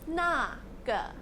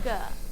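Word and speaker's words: 那个: The most common way of pronouncing naga, especially for students of Chinese, is with the pinion na and g.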